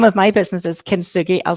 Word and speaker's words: Kintsugi: So my so the name of my business is Kintsugi. I'll spell that because it is a bit strange. So Kin and Sugi is Kin and then Tsugi, Kintsugi Healing.